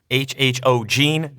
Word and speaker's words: HHOGene: HHOGene, that is how you pronounce the company name.